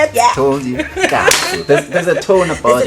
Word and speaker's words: Nkantsu: Nkantsu. There's a tone about There's a tone it, you and know.